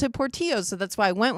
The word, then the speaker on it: Portillo's: That's Portillo's. Really? In Spanish, it is Portillo's. You can just pronounce it incorrectly in Chicago all you want.